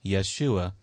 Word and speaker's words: Yeshua: the Hebrew name yahushua which is often pronounced Yeshua in the Aramaic language now we see here